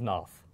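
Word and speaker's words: Pnath: It's just Veil of Noth. Veil of Noth. Noth. Yeah, the P silent.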